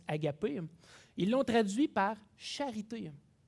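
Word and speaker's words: ἀγάπη: ailleurs, c'est-à-dire celui qui, dans le grec, se prononce agapé.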